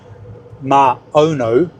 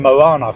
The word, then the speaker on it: Maono: by a company called Maono. Let me get that right. I keep saying it wrong. I keep saying Moana from the Disney cartoon.